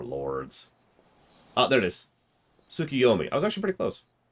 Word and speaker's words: Tsukuyomi: Tsukuyomi.